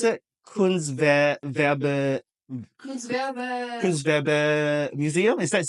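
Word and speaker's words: Kunstgewerbemuseum: Is this how you pronounce it? Kunstwerbe Kunstwerbe Museum? Is that correct? Yeah, Kunstwerbe Museum.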